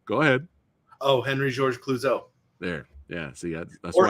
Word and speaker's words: Henri-Georges Clouzot: Your boy here, I will let you, that's right, pronounce his name. Go ahead. Oh, Henri-Georges Clouzot.